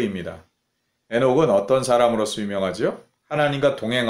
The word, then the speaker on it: 에녹: 얄 s 아들 이름이 이 에녹 인데 실제로는 한 오크의 더 가까운 발음 이랍니다 헌신 이라는 뜻을 가지죠